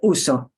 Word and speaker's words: uso: same the yo form if I punch the end it turns it into a past tense verb and it's no longer